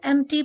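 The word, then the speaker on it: empty: There is एन एम्प्टी plot. एम्प्टी का P silent होता है, पी को प्रोनाउंस नहीं करते हैं.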